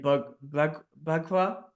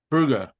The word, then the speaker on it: Braugher: Andre Bagua. Is that you say his name? no, man, hold up. Let's, Bagua, but like it was Captain Hoult in yeah, Braugher. Braugher. Braugher, Andre Braugher, amazing actor.